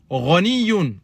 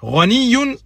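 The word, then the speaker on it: غنيّ: At-tajiru ghaniyun. Naam. Donc, le commerçant est riche. Ghaniyun, ça veut dire riche. Ghaniyun. Bien prononcer la shedda sur le ya.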